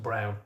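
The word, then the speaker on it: Braun: It's it can be comparative with um the uh you know Ava Ava Brawn thing where actually actually her last name was pronounced Brown according to my dad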